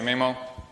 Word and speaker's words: Maemo: not from Finland and I've heard people pronounce it differently me mo mo I say me mo hope it doesn't offend